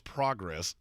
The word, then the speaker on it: progress: First of all, it's progress. Don't just change the don't put the emphasis on a different syllable because it doesn't rhyme.